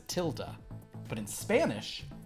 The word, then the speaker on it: tilde: referred to as a tilde, but in Spanish is referred to as a Tilde.